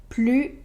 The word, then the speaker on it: plus: On ne prononce pas le S quand plus exprime l'idée de la négation.